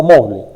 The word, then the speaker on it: Moodle: El CMS con sitios por excelencia, más conocido para hacer cursos virtuales online, el famoso Moodle, M-O-O-D-L, así se escribe, se pronuncia Moodle.